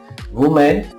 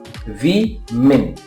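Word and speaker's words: women: ही सीख पाओगे वुमेन व मेन व मेन विमेन क्या बोलेंगे विमन है ना वुमेन गलत है यहां पर भी ई की साउंड यहां पर भी ई की दोनों जगह ई की ध्वनि आएगी ई की मात्रा लगा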